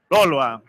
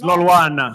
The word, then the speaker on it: Lolwana: on stage Professor Peliwe Lolwa. Please give her a round of applause. Peliwe, I'm sorry, I said your surname wrong. It's Lolwana.